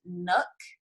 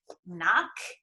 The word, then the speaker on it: Nock: husband's last name is nook and it's n-o-c-k and people pronounce it like knock knock yeah that's what i